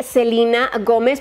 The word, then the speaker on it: Selena Gomez: que a todo esto ella pronuncia su nombre selena gomez pero ustedes como le dicen a selina como lo pronuncia a ella o selena platiquen en los comentarios